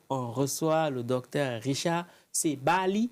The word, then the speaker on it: Sabaali: Aujourd'hui, on reçoit le docteur Richard Sebali. C'est comme ça qu'on prononce? Ouais, c'est Bali. Sebali, voilà. Ouais.